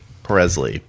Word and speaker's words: Presley: Ben Presley. Rhymes with Elvis Presley, but Ben instead of Elvis.